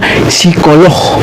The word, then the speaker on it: psikolog: Aduh ini tulisannya log psikolog tulisannya kan Mbak Psi. Iya Psi. P I K O L O G. G. Tapi bacanya psikolog.